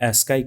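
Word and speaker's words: ASCII: हम लोग देखते हैं ए एस सी आईआई यानी इसे प्रोनाउंस किया जाता है एस्का का पूर्ण रूप क्या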